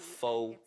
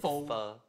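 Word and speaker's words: phở: It only takes 10 pronouncing it wrong. So not pho, it's pho.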